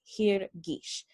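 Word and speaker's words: הרגיש: And the way that we pronounce that is hirgish, taking the ee sound from the name of our binyan, hifil.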